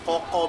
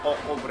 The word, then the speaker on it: cocoa: Okay, this is butter bread, this is cheese bread, this is cocoa bread. Coco, you have to say it like coco bread.